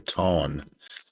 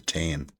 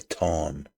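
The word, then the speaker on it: Táin: A lot of people pronounce this wrong. They say the Tain. It's not. Just as I'm Irish, so I know how to pronounce it. It's the fada is in there. T-A fada. I-N, so you call it the Tawn by the Horslips.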